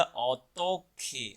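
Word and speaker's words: 어떻게: ओ तो खे, ये बोला जाएगा ऑतो खे।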